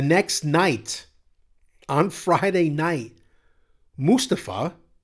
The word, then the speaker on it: Mustafa: night on Friday night Mustafa which is the way you're supposed to pronounce it Ali main evented the